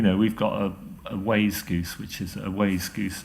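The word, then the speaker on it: wayzgoose: healthy and you know we've got a A Way Goose which is a way Goose another new word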